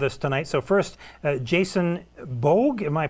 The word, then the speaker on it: Bogue: So first, Jason Bogue, am I pronouncing it correctly?